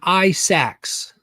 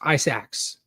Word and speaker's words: Isaacs: Sean Isaacs. Minotaur. Isaacs. There it is. Isaacs. That's how you say it.